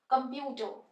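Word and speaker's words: computer: next word इ कंप्यूटर पहले pronounce करते है कंप्यूटर कंप्यूटर अब कम short a shortest a sound यानी स्वर साउंड का यूज होरहा है क अ म स्ट्रेस प्यू पे आ रहा है पर साउंड के ऊपर स्ट्रेस आ रहा है तो जो कम है हमने इसको बहुत आराम से प्रोनाउंस करना है कंप्यूटर देखो जब हम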